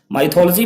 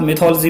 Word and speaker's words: mythology: माइथोलॉजी भी कुछ लोग पढ़ते हैं बट फ्रेंड्स आप मिथोलॉजी पढ़ेंगे, दिस इज करेक्ट प्रोनाउंसिएशन।